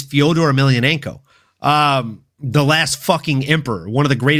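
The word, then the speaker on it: Fedor Emelianenko: the name he doesn't even know how to pronounce. Like it's Fodor Ailionenko.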